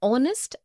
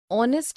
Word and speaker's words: honest: also an heir, an honest, an hour. Because the words heir, honest and hour begin with a vowel sound, as the initial consonant H is not pronounced.